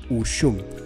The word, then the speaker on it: Ushum: Platicábamos justamente antes de empezar, ¿cuál es la pronunciación? Ushum.